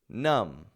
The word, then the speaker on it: numb: bomb bomb num num so each of these words is spelled with a B on the ending but none of them have that b pronounced so check this out even if we add more letters onto those words the B remains silent so instead of saying